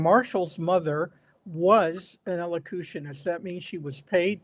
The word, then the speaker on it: elocutionist: met Marshall, and she was, I can't even pronounce this word, a locutus. What is she? ELOCU. Elocutionist.